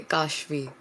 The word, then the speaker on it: Kashvi: It's a long A, Kashvi.